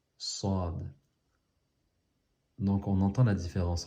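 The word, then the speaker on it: ص: Sad. Regardez comment je le fais. Sad. Donc le sad, il ressemble, il pourrait ressembler au sin, mais il est plus grave, il y a une emphase, un accent. Sad.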